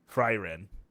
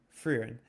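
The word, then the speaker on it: Frieren: F R I E R E N. Fryen. Finan in terms of spelling for us Americans. Yeah. For for the American audience, it's like very weird. But fran.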